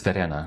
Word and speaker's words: Verena: Yeah, by the way, so it's Verena, right? Do I pronounce it correctly?